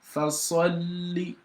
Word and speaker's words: فَصَلِّ: So for you to pronounce the lam on fasalli, you've got to pronounce the silent lam inwardly and pronounce the one with vowel sound outwardly. And that's why you have to say fasalli.